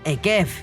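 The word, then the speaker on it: עֵקֶב: Akeiv, la misma palabra, pero se pronuncia distinto. Es decir, Deuteronomio 7:12, que abre la parashá Ekev, que significa sí, se escribe igual que calcañar, talón, que se pronuncia Akev. La misma palabra.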